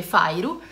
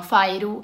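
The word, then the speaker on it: Feyre: Parla di questa ragazza che si chiama, allora si scrive Feire, però da come ho capito si legge Fairu, quindi parla di questa ragazza che si chiama Fairu, che vive in condizioni di povertà.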